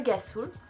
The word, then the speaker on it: rhassoul: Alors en fait le Rasoul se dit le Gasoul ou le Rasoul, ça dépend, je ne connais pas exactement la prononciation marocaine, excusez-moi, et le Shikake.